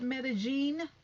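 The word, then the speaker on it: Medellín: on the trip that you went to to medellin tasha k that's how you pronounce it medellin that's how you pronounce it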